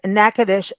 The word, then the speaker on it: Natchitoches: two websites one is nacadish decom I'm going to spell this out because the way you may read nacadish and how you pronounce it are two different things so it's n a